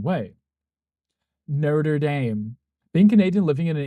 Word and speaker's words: Notre Dame: Being Canadian, living in an English-French bilingual town, we're raised to believe it's Notre Dame, so it always makes my skin crawl. Yes, because I've been to France. Literally heard the pronunciation, and then here in the US, when they say Notre Dame, I'm like, it's the same word. Why are you saying it differently?